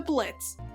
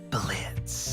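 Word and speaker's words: Blitzø: of his name to blitz oh didn't it have an o at the end like a clown name yeah well it's silent now okay so call me blitz wow let's just basically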